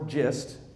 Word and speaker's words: Gist: This is a lake that when Christopher Gist, or Gist, pronounced two different ways, when he went